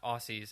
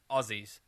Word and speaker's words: Aussies: pronounce that by Dave it's not Aussies as I used to say it's Aziz Azio there yeah that was